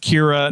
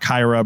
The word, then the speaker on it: Kyra: And her name is pronounced Kira, not Kyra, because Tyra Banks demanded that the character not have a name that rhymed with her name.